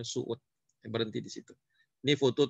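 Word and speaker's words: Söğüt: Desa eh apa namanya Suud namanya sogud tulisannya tapi bacanya Suud berhenti di situ Ini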